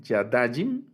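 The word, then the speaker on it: יָדַיִם: Entonces, y luego el dual, Yadajim, noten que no es Yadajim con el acento hasta el final, Yadajim, sino Yadajim.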